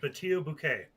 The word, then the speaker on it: Patio Bucket: come up with, and it's pronounced Batio Bouquet. And I cannot wait to play that one. It's spelled the patio bucket, but said yeah, his name is Patio.